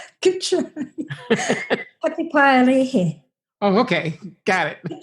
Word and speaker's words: Patupaiarehe: I know I'm probably going to mispronounce this terribly. The Patupaiarehe? Good try. Patupaiarehe.